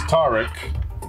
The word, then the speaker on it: Tarek: It's Tarek, you know, like your typical Arabic way.